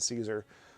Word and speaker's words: Caesar: So Caesar as you would see it spelled would be pronounced Kaiser by the classical Latins and the vulgar vulgar Latin speaking world would have said Caesar and a lot of